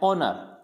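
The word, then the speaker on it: honour: जैसे ऑनर, इसको हॉनर नहीं पढ़ेंगे, हॉनर नहीं पढ़ना है, इसको क्या पढ़ना है, ऑनर।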